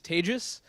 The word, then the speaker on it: Tejas: me to start with my name is Tages that's pronounced like contagious don't worry I'm not